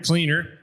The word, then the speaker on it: Kleiner: recipient is dr lawrence kleiner cleaner pronounced cleaner sorry and he already had